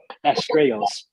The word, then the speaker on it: Astrais: So your name, how do you pronounce it? Astrais.